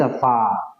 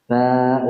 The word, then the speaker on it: فاء: ترقيق وليس فا. في بعض اللهجات فا، هذا خطأ. صحيح ننتبه لترقيق حرف الفاء، فاء وليس فا.